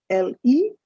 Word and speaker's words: le: forms the first is l e that's pronounced as le then you have l